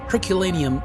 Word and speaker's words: Herculaneum: In Italian, Ercolano. Ercolano. What do Americans call it, or English? Yeah, Herculaneum. Herculaneum.